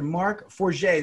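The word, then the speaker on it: Marc Forget: to uh say hello here to m.a mr mark 4g did i pronounce that correctly mark absolutely correct and mma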